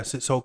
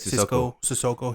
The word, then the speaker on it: Sissoko: Sissoko? Yeah, Sissoko. Yeah, that's how you say it. Sissoko.